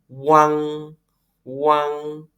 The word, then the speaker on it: uang: Ini bacanya bukan uang ya, tapi uang. U-nya nggak kedengaran. Seperti uang, tapi U-nya tidak kedengaran. Uang kan? Wang, wang.